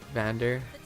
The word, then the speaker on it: Vander: Vander rhymes with Xander.